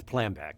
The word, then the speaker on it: Plambeck: Did I say it right? It's Plambeck. Plambeck. Damn it. Okay, hold on. Maury it's Plambeck, okay. like exactly how it's spelled. Right, but if you were German, you would say Plambeck. Okay. My grandparents said Plambeck, but okay, that's Plambeck German. It's a German name.